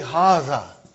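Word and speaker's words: هذا: to erase it see it is pronounced like haza but this aleph is not written it is explained in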